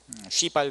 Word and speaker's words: 시발: 발음은 조심하세요. 시발 자동차.